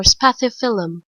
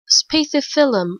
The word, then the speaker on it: Spathiphyllum: to say it so here is how is supposed to be said spacey filum or spathiphyllum spathiphyllum or spathiphyllum okay I guess speed